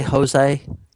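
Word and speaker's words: José: can you please say Jose no his name is Jose that's how they pronounce it in Brazil I can't [ __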